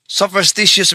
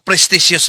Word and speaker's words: superstitious: Ang tamang termino sa English sopstitious belief. Hindi po prestious belief.